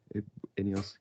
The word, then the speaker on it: Ineos: How do you pronounce that again? Ineos.